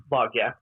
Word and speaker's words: Vaage: It's spelled out Andersvaage is Norwegian. That's Vogge.